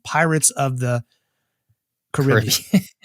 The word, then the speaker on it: Caribbean: for that is because it's a reference to the Carib people of the areas and not the CBS